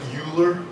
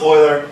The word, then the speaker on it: Euler: A lot of students pronounce that Euler. I was reading about Euler the other day. I hear that all the time. It's pronounced Euler.